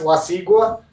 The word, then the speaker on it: La Sigua: Yeah, so it's pronounced La Sigua.